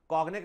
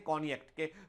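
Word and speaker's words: Cognac: होता हैक जो है कोनियक स्पेलिंग होता है सी ओ जीी एन ए कॉग्नेक लिखा होता है पर उसे बोलते हैं कॉनिक कनिक हुआ और रम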